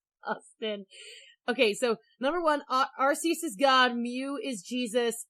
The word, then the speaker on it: Arceus: Fun fact, the official pronunciation is Arceus because Arceus has arse in it, which is British for butt.